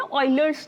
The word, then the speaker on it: Euler: जिसको हम बोलते हैं ऑयलर्स नंबर। ऑयलर्स बोल रही हूँ मतलब स्पेलिंग OILER नहीं है, EULER है। ठीक है, प्रोनाउंसिएशन मतलब उनका नाम ऑयलर है, ऑयलर्स नंबर।